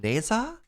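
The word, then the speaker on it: Ne Zha: And there's one that tells the story of how do you pronounce it? Neza? It's like Nehza, which is kind of great.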